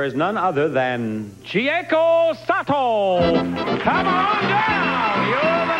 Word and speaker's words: Sato: Sato. No, S. Sato.